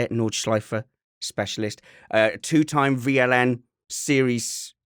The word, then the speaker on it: Nordschleife: knowledge life specialist is how you say it nordschleifer specialist a two-time vln series class champion and